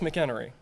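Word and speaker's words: McHenry: a whole okay good I've heard mcer and so many other things it's McKenry the Earth sciences and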